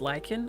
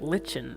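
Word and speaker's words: lichen: seams of the walls wait it's pronounced lyen I've been calling it Len my whole life I'm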